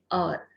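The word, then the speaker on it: hour: का यूज होता है, जैसे कि एन और, यहाँ पर एच साइलेंट है।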